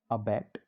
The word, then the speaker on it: abate: हमारा जो पहला वर्ड्स है वो है अबैट और अबेट। इस वर्ड के हम स्पेलिंग को और प्रोनाउंसिएशन को और उसकी मीनिंग